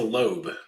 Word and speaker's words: Loeb: I'm not sure if you remember Lisa Loeb. She had the hit song "Stay" in the 90s. I've always heard Loeb, just Lisa Loeb. Is that? It's got an E in it. I pronounce it Loeb.